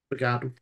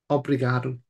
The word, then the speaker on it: obrigado: Obrigado. What? Obrigado.